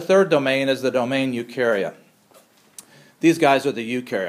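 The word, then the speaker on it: Eukarya: domain is the domain ukaria these guys are the ukar outs and u means true the letters EU together pronounced u means true so these guys have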